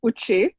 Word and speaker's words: Uche: hi good day everyone it's uchee that's how my name is pronounced okay um for me